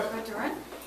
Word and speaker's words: Côtes-du-Rhône: So this is Côtes-du-Rhône. Bien sûr. Côtes-du-Rhône.